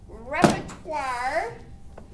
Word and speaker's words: repertoire: sonata operetta romantic romanticism repertoire doesn't look the way it is said repertoire mythical ensemble opus